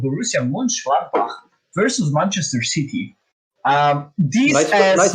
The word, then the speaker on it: Borussia Mönchengladbach: The first team is a German team, also called Borussia Mönchengladbach versus Manchester City. Nice pronunciation, Marco, by the way.